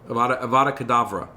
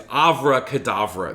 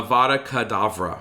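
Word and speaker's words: Avada Kedavra: abracadabra it's avada kavadra avada kadavra yep uh of course it's meant to sound like the phrase yes so i think what i usually say is avraha kadavra that's how i usually mispronounce it so it's not quite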